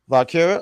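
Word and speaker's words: Valkyria: Valkriya.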